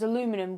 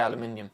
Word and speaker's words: aluminium: saying of it yeah because aluminum we know that yeah we don't say it like that yeah we say aluminium but we know what